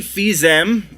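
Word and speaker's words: Fils-Aimé: Nintendo of America it seems that president Reggie fils-aime I'm pretty sure is how you pronounce his name he will be retiring as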